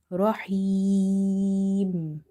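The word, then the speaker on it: الرحيم: kasra, then it means this ya is maddah. Maddah letters are such letters which we read by stretching them up to one alif. So, here we have to say rahim.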